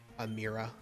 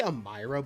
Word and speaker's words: Amira: Your mother is you have a great mother, Amira. I used to say Amira, but it's apparently pronounced Amira.